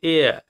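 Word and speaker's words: heir: এয়ার দেখো HEAIR উচ্চারণ কিন্তু হেয়ার নয়, এর উচ্চারণ হচ্ছে এয়ার।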